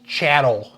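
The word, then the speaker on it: chattel: considered uh I believe the term is chatt but it and it rhymes with cattle and it means about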